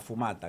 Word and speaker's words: fumata: La humarera blanca, eh, la fumata, la fumata.